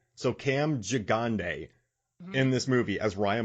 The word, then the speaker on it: Gigandet: you man so i i phonetically wrote his name down and i listened to an interview but it's ji gonday so cam jagande in this movie as